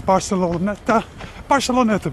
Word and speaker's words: Barceloneta: The most popular, the most well-loved beach in Barcelona is Barceloneta Beach, that's how you say it.